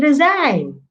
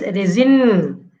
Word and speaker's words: resign: The next is resign. Resign. R, E, Z, I, in. The second is resin. This is incorrect.